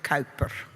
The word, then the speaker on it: Kuiper: It's a Dutch name by a good Dutchman, like Huygens, also a really nice name to pronounce, but that's double difficult.